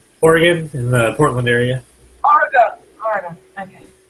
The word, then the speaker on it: Oregon: Sorry, I pronounce it English. Oregon. Yeah, I'll give you that because you have the English accent and everything. But when people from the States pronounce it Oregon, that's fighting territory for an Oregonian. Oh, there's no A there. It's an O.